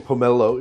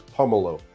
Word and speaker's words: pomelo: You're saying Pomelo is It's Pomemelo. You're putting the empresses on the wrong level. I'm very confused. I thought it was the second syllable that was stressed, but it's the first syllable.